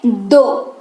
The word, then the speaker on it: though: हालांकि दो का इस्तेमाल करेंगे, क्या इस्तेमाल करेंगे, मतलब नंबर दो नहीं, दो वाला दो नहीं, THOUGH, लेकिन इसका उच्चारण होता है दो।